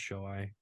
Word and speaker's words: Shohei: And then Jordan, and then Shohei, who has been hitting a homer every single game. It's pronounced Shoei.